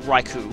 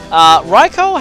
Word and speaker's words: Raikou: it's right for Michael I used to pronounce it right coupe but that's not how to pronounce it all raikou has very good special